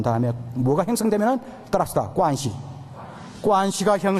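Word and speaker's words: 关系: 관시. 한번 따라해봐요. 제가 중국 전통 발음이에요. 따라서 관시.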